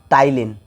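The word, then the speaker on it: ptyalin: टाइलीन P silent रहता है इसमें टाइलीन एंजाइम।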